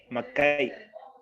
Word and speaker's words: Macay: A Micay. ¿Así se pronuncia? ¿Tu apellido? Macay. Macay. ¿Macay así? Sí.